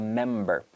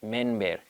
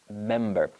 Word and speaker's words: member: They pronounce it like an N, member, but no, member. So the key here is to close your lips with the letter M, member.